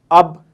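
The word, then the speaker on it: اب: अलिफ बे अब, अलिफ बे अब, अ की आवाज़ आ रही है।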